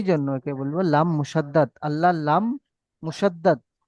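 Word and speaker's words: الله: 13 আল্লাহ শব্দের কায়দা আল্লাহ শব্দের মুশাদ্দাদের পূর্বে আল্লাহ আল্লাহ মুশাদ্দাদের পূর্বে যদি জবার অথবা পেশ যদি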